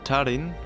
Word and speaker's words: tarin: In tarin, which translates to raise, the first syllable is stressed.